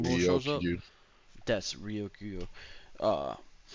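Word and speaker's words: Ryokugyu: Yeah, yeah, like It he took him learns blast breath when Rengokuyo or however you say his name shows up when Green Bull shows up. Ryokyu. That's Ryokuyo.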